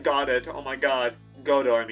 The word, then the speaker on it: Godot: I want to be like God. Oh my god. Godo. I mean that's the correct pronunciation.